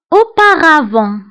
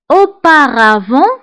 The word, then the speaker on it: auparavant: ce matin هذا الصباح auparavant auparavant كتعني سابقا auparavant auparavant فانتبهوا بالنسبه لاوباغافون كنكتبوها بالت في اخر الكلمه ولكن لا ننطقها auparavant سابقا الادفيرب الموالي